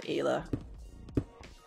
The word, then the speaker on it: Ayla: Now, I've heard different pronunciations of it. Some people say Isla, some people say Ayla.